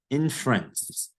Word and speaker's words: inference: Number 8, inference. The E here is silent. Inference.